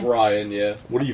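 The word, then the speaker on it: Rian: It's Ryan, yeah.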